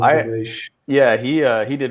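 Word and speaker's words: Aleix: Yeah, it's spelled Alix, but it's Alish.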